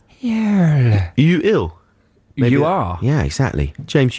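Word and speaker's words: Yuill: was very nice um y u i double l how would you pronounce that you ill you are yeah exactly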